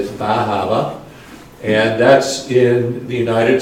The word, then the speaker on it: Bar Harbor: We started off, everybody met down here in Bahama. That's how that's pronounced. It looks like Bar Harbor, but it's Bahama.